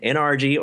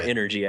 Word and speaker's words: NRG: honest I'm always confused is it nrgy or energy energ how does how is it pronounced either's fine either's fine people say both so either's so you're with NRG or energy I guess uh which